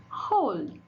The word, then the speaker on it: whole: Whole. Give me this whole. Two. Two things. Sort. This W is silent.